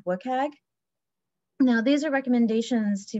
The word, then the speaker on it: WCAG: reference the Web Content Accessibility Guidelines, which is pronounced WCAG.